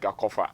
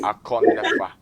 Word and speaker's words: Akornefa: you don't want me to shorten it down like Akofa. No, no, no, no. Okay, Akornefa.